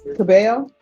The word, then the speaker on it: Cabello: And are you Miss Cabel? Yes. Am I pronouncing your last name right? Yes. Thank you. I'm always the double L's always throw me off.